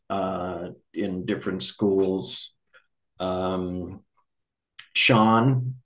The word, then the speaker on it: Chan: in different schools um Sean which is how Zen is pronounced in China practitioners will have different